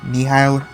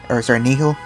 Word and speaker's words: Nihil: A lot of people pronounce it differently, but I pronounce it Nihil. But basically, Nihil.